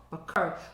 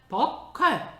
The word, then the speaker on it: buccal: 버컬. 부엌에 있는 칼. 버컬.